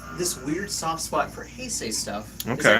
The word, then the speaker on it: Heisei: So I grew up with more of the Showa stuff, and I have this weird soft spot for Heisei stuff. Okay. Is that how you say it? Heisei?